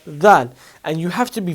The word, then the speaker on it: ذ: You have to stick your tongue out of your mouth, outside of your teeth, and give it a tiny bit of vibration. Say dha.